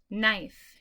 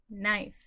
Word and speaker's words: knife: Okay, knife. You can just repeat them. Knife.